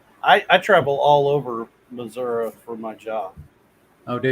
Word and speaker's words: Missouri: and hills hey dale there's an eye at the end of missouri missouri you know you